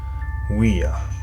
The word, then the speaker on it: Ouija: Słowo Ouija może mieć również inną formę wymowy. Ouija, jako połączenie dwóch słów, francuskiego oui, czyli tak, oraz niemieckiego ja, o tym samym znaczeniu.